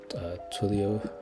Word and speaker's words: Twilio: I was playing around with something called um Twilio. That's how you pronounce it cuz it can send a message, but that cost money too, unfortunately.